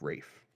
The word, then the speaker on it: Ralph: Isn't his name Ralph? It's spelt like Ralph, but it's said like Rafe.